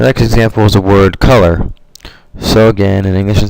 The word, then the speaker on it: color: Where in Spanish, both the O's are the same sound, O, color, and the syllable at the end is stressed, not the first, like in the word in English.